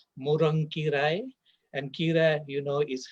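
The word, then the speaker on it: முருங்கைக்கீரை: Moringa is in fact a Tamil word. Properly pronounced in Tamil, it will be something like morankirai.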